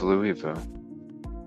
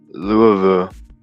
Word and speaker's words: Louisville: County right above Louisville or Louisville yeah say it like you have marbles in your mouth right hmm off of